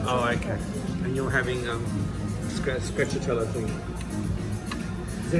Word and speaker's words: stracciatella: And you're having stracciatella thing. Is that how you say it? Stracciatella or something?